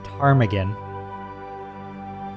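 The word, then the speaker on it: ptarmigan: So, this is a uh this is a she is a tarmaggan. A tarmaggan. I don't know if you It's spelled with a it has a silent P at the top at the first here.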